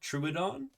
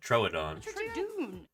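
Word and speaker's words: Troodon: eyes to help it notice how she pronounces it tradon I've always said Troon and Chatters like to call it trun yeah yeah and kmos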